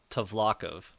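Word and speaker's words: Tvlakv: TV L A KV tlov is how they say it in the audio book okay um I definitely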